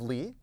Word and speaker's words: Lie: Lie Groups are named after a mathematician by the last name of Lie. In case you're wondering, that is spelled LIE. If you pronounce it lie, that's incorrect and quite problematic.